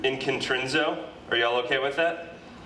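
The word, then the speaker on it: ἐγκεντρίζω: I pronounce this word inkintrinzo.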